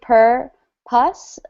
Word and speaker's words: purpose: So it's actually per pus, but purpose is usually how we say it just when we're reading and fast. It kind of changes its pronunciation a little bit.